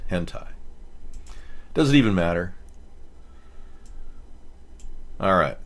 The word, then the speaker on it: hentai: but yeah they critics the correct pronunciation of this is hentai hentai that's what it is hentai does it even matter